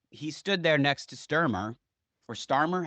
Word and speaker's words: Starmer: I think that's the weirdest part is like he stood there next to Sturmer or Starmer. How do you pronounce his name? Starmer.